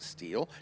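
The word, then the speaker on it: Stihl: SEDA, Steel Power Equipment, that's ST I L pronounced Steel, Tense Unlimited, Hulie, Toyot Tires, VP Racing Fuels, The Whiteart, and Women in Motorsports North America.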